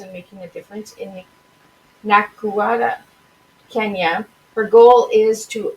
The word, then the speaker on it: Nakuru: So how do you pronounce the Nakuru? Nakuru, Kenya.